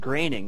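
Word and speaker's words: Groening: They were both created by Matt Graining. That is how you pronounce his last name.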